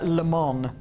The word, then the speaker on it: Lemon: lemon their surname is lemon it's spelled lemon uh but he calls himself Mr leemon who you trying to